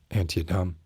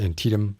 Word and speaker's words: Antietam: of antietam um which i for the longest time pronounced anti-adam uh i've been set straight it's antietam i worked on a